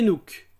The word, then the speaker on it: CNOOC: dans le secteur pétrolier elle est plus connue sous le sigle CNOOC que je prononcerai par la suite c'est nuque comme son nom l'indique